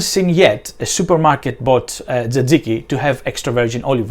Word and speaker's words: tzatziki: Another question is how it is pronounced, and the pronunciation is tzatziki. Sometimes you hear people saying it tzatziki or tzatziki or tzatziki or something like that, but it's tzatziki.